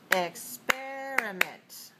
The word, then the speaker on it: experiment: the second word is experiment experiment experiment experiment are you clapping with me experimenter good experiment has four syllables and it's dressed on the second so we write down